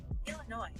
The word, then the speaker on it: Illinois: you she said Illinois she said how do you say say that state again sh Siri can you how do you say Illinois Illinois noi okay she did say noi yeah all right you're